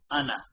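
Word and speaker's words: أنا: However, right, it is only pronounced as though the alif is not actually there. So it's pronounced as though it's just ana, as in, as though it looks like this.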